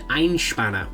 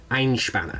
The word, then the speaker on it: Einspänner: of this recipe so it's called an einshbana which i apologize if my pronunciation is off but i think that's how you're supposed to say it ein spana which translates from german